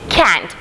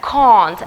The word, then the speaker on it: can't: They say can't, but it is not correct. It has to be pronounced like that, can't.